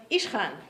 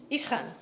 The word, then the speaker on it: Ishkhan: And you have to know a little bit, to spell it correctly, you would have to know a little bit about Russian pronunciation, right?